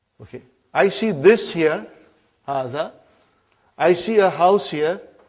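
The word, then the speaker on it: هذا: Haza see it is pronounced like ha.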